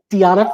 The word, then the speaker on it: Deona: studio with me deanna and am i pronouncing it right yeah deanna all right i'm so glad to have